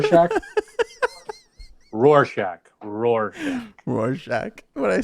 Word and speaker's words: Rorschach: we want to see no it's not horshack from welcome back potter it's a war shack test if you at least i think that's what it's how it's pronounced is it war shack rorschach rorsch rorschach